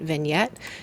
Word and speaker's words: vignette: It's spelled vignetti, but we say it vignette.